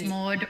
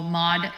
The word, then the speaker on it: Maude: hour hi dragon radius it's maude or mod as we've discussed in the chat when americans say my name it sounds like it's m.o.d which means there's tons